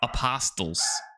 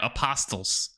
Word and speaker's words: apostles: well but he says apostles like i'm like dude there's a silent t like apostles yeah every single time apostles and i'm like dude